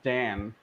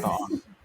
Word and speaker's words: Dan: Hey, his name is Dan, not Don. No. That's how bad he is. You don't even remember his name ever. You always say Don, and I always correct you as Dan. That's how it's pronounced in the Japanese pronunciation.